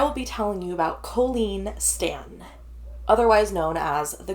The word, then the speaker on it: Colleen: and Order SVU and it's colen not Colleen correct I had to like do that um note in my story so I could like remember to say it right cuz yes it's very easy to say Colleen okay um it was